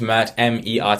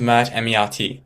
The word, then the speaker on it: Mert: Yeah, I just said my name is Matt M. and he got it right. Okay. All right. In the English sense. If Jake is watching this, I'm sorry. You pronounced my name wrong.